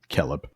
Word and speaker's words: Celeb: C has always the value of K C even before E and I. And talking gives the example here. Kellb silver should be pronounced as Kellb, right? With obviously it's a little weird we're reading it here. I know. Kell with a C should be pronounced as Kell with Kell with a K.